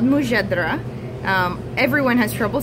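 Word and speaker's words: mujadara: of um we're very understanding about pronunciation let's pronounce it real quick it's called what mujadra mujadra okay so tell me a little bit about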